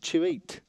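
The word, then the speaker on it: Chute: Joseph Chouit. That's his name. Joseph Shoot. C-H-U-T-E. Shoot. No, it's not shoot. That's how it's pronounced. Chouit, like tweet.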